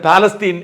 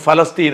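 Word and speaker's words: فلسطين: പേര് ഉച്ചരിക്കേണ്ടത് ഹീബ്രുവിൽ തന്നെയാണ് ഇതുപോലെ തന്നെ പാലസ്തീൻ എല്ലാവരും പറയാറുണ്ട് പക്ഷേ ഞങ്ങൾ പറയുന്നത് ഫലസ്തീൻ എന്നാണ് അതാണ് അതിന്റെ ഉച്ചാരണം അത് അവിടെ നിൽക്കട്ടെ ബെന്യാമിൻ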